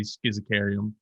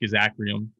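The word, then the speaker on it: Schizachyrium: We've talked about what I say schizocarium, but also it's pronounced schizacrium, which is right.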